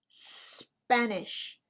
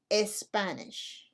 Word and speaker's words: Spanish: sorry why not because we do not use the letter e as a help to pronounce the letter s if the letter s is the first letter in the word so it's spanish not as spanish how would you like